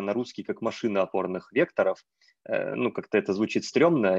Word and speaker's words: векторов: Во-первых, ну вот у меня почему-то есть такое мнение, что правильно говорить векторов, а не векторов.